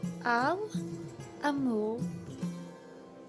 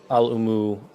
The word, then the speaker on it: Al-Umu: He said, Al-Amu. Tears. Father. While her pronunciation is not the greatest, you both know that Al-Umu is the word for mother.